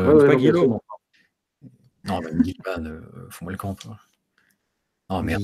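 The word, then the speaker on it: Guilliman: Remarque, moi, je dis encore Gulliman régulièrement. Hein. Oui, tu dis encore Gulliman, ouais. Mais ça, c'est censé se prononcer comment, justement ? Bah, Gilliman. Gilliman. Gilliman. C'est Gilliman. J'avais peur que ça soit ça, ouais. Ouais, non, c'est Gilliman.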